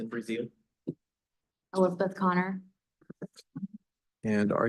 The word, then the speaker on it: Brazil: matter of Justin Brazil is that the proper pronunciation breil brail and Elizabeth Connor case